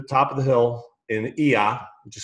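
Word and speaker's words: Oia: I was in Santorini, up on the top of the hill in Ia, which is spelled O-I-A.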